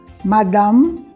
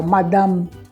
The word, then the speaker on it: madame: senhorita nós dizemos madmazel Madame a gente não diz o final do é o final da palavra a gente a gente faz justamente o movimento bilabial Madame e se entende que